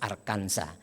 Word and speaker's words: Arkansas: Almasih di negara bagian arkansas katanya bacanya harus arkanza itu mereka bekerja sendiri